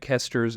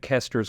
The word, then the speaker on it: Koester: commentary on Revelation, Craig Kester's commentary will still be better. He said it's just the best one out there. His last name is spelled Koester.